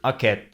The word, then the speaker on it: aquest: The word aquest is similar to Italian questa or Spanish and Portuguese esta, but notice that the S and T are pronounced differently. The S is silent and the T is not released.